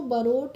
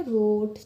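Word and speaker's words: wrote: ओ टीई है तो जब भी कभी किसी वर्ड में डब्लू के बाद आर आता है तो वहां पर हम डब्लू का प्रोनाउंस ऐसा नहीं करते हैं इसीलिए हम इसको बरोट नहीं पढ़ेंगे इसको हम पढ़ेंगे रोट ठीक है ही रोट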